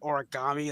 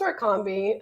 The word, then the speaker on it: Orkambi: Because I keep saying like almost like origami. That's it's just Orkambi. I mean, if my friends would pronounce it origami and they pronounce trikafta, trifecta, I just it is what it is.